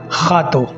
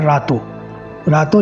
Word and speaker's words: Rato: इस यानी कि इस जो सर्किल है खातों का, लेकिन हम लोग एक्चुअली खातों पोर्चुगीज़ के अंदर उसको खातों कहते हैं, लेकिन वो लिखा जाता है रातों लिखा जाता है।